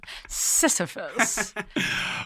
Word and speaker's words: Sisyphus: you did not that you got close to pronouncing was sisyphus sisyphus um who famously pushes a rock up a